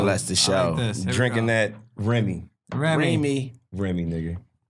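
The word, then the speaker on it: Rémy: of uh Remy Remy Remy the accent on the e pipe this is like I should extend in the e that's that Kansas City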